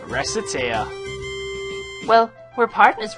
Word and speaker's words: Recettear: Oh, Lord. Recettear. Mispronounce it even slightly and... Recettear? Racket? This job is going to be more absurdly difficult than I originally suspected, I fear.